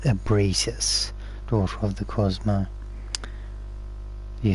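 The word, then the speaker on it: Ebrietas: Yeah, so I think her name is pronounced Ebritis, daughter of the Cosmo.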